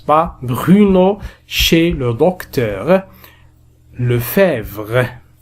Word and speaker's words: Lefebvre: Lefebvre E on ne le prononce pas.